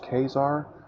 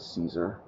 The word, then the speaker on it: Caesar: kesar I pronounce it Caesar um so just every time you hear it mentally pretend I said Kar if you do prefer the original Roman pronunciation however I'm English so we say Caesar anyway all right I just